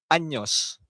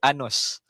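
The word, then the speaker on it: años: Contoh Tengo trenta anyos. Anyos. Ha dia tak boleh anus. Ha kalau anus maksudnya lain.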